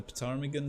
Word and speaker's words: ptarmigan: for eagles, but the ptarmigan set out and I hope that's how you say it, or not just ptarmigan, the silent P, I don't know.